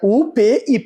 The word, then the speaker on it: UPY: E fica UPY, ainda assim a pronúncia é Up.